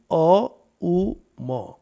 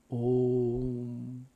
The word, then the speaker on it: Om: Swapna Sushupti Avastha onto the three syllables of Om, A, U, Ma. A and U merge into O and you have Ma. Aum is Om.